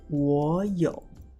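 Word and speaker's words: 我有: When we have the 2 low tones together, it is really hard to pronounce. Therefore, we'll put the first low tone to a rising tone. That's why we say 我有 for I have.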